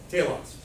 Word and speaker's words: telos: Telos, the point. It could be pronounced differently, but nobody speaks ancient Greek anymore, so I'm telling you it's pronounced telos.